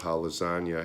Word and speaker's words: lasagna: lasagna I always love Hallows Anya has a silent G it looks like Liz agna but it's now lunchbox